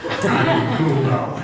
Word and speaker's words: D'Angulo: in which he said, "My name is pronounced An as in Analects, Goo as in Goo eyes, and Low as in lowbrow." D'Angulo.